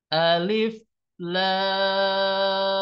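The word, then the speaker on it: الر: Contohkan sekarang cara bacanya alif lam Nah hati-hati rnya ya jangan sampai Kepanjangan ya di sini rnya dua harakat Saya ulang alif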